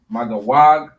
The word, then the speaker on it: Magog: All right, it is pronounced Magawag in the Hebrew.